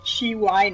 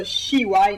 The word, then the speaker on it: Shiwai: So it would be pronounced CY, but since the comic takes place in Japan, there's no Japanese sound for C like it's pronounced in English.